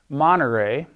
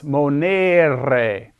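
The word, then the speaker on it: monēre: pronounced moner it's not monterey it's monere this e is long another example of a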